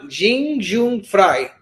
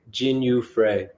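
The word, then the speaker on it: Jinh Yu Frey: Victoria Dudakova versus Jing Jun Frey. Am I saying it right, guys? Or am I being? Jin Yu Frey.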